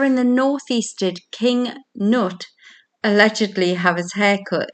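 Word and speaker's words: Cnut: And number 10, where in the northeast did King Nut allegedly have his hair cut in the year 1031 before visiting St.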